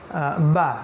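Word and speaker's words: باء: একটা হলো বা, যেটা ঠোঁটের ভিতরের যে পার্ট, এই ভিতরের পার্ট থেকে উচ্চারণ করতে হয়, এটাকে বলা হয় বা।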